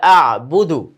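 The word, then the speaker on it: أعبد: লা আ'বুদু, লা আ'বুদু। এখানে হামজা এবং আইন একসাথে আসার কারণে অনেকের কিন্তু এই জিনিসটা উচ্চারণ করতে একটু কঠিন লাগতে পারে।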